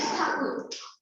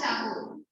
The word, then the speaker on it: Thakur: Like Rabindranath Tagore, the actual surname is Thakur. So even in Bengal, the Bengalis always refer to him as Thakur. So Britishers pronounced Thakur as Tagore, and so it became Tagore.